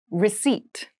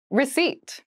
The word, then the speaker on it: receipt: meal room service meal receipt receipt receip receip has a very interesting spelling there is a p in the spelling of this word but we do not pronounce it the pronunciation is receipt a receipt is a